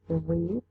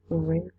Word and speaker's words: read: The difference is that for the base form you pronounce read, and for the past read.